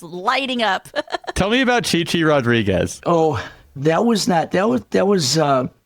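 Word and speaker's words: Chi Chi Rodriguez: Tell me about Chichi Rodriguez. Oh, that was, we say Chai Chai Rodriguez because of Les Nessman on WKRP in Cincinnati.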